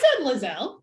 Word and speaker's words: Liselle: ask the author, like, so is it, you said Liselle? Is that what you said? Because I was saying Liselle the whole time. No, I said Liselle. Oh, okay, Liselle.